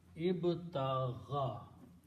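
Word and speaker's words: ابتغى: Now, the sound of this last letter with the ya, with the fataha, is the sound of small alif, gha, tagha. So this word will be pronounced as ib ta gha. Ibtagha. Okay. Instead of ibtagha ya, we pronounce this, instead of ya, we pronounce alif. So it becomes ibtagha.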